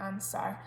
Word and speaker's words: answer: And then answer, a lot of people miss out the W in that word because you don't really hear it, it just sounds like answer. So it's a silent W, we need to make sure we pop in.